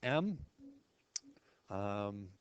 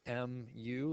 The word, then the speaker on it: mu: sort of like an M um or you know sort of a fancy lowercase U with a extra little hook there and again it's pronounced mu like muu like music mu and standard deviation of